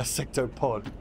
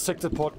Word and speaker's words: sectopod: uh sectoid i think you you mispronounced sectopod not a sectoid a sectopod got it it was sector pot turn one uh crystallite